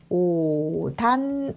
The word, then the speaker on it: 옷 안: 발음이 옷 안. 그래서 결과적으로 오단 이렇게 발음이 되겠죠.